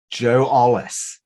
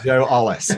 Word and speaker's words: Ollis: Joe Ollis. I pronounced that right? Yeah, you did. Good job. Joe Ollis.